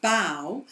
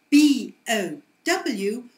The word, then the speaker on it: bow: But just to make life a little bit more difficult, we also have B-O-W with a totally different pronunciation, bow, and this is a ribbon, something pretty that you put in your hair.